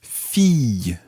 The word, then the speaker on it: fille: Yeah, that's quite a tricky word to say. Listen carefully. Fille. Fille. And you can decide to do a sort of y at the end, or just leave it as fille.